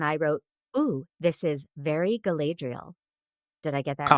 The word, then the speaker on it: Galadriel: So, our beautiful movie starts with an opening speech and I wrote this is very Galadriel. Did I get that right? Oh, nice. Yes. Yes. It's pronounced Galadriel.